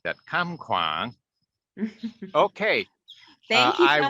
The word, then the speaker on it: Kham Kwang: I've got to say it like that, Kham Kwang.